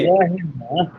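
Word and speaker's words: مظاهر: মুজাহির না, ফাহুয়া মুজাহিরুন, এখানে সাকিন করার কোনো অপশন আছে তাহু- না। তাহুয়া ফাহুয়া মুজাহিরুন, মুজাহির। পেশাত্তর উচ্চারণ করতে হবে, মুজাহিরুন ইসমে ফাইলের সিগা।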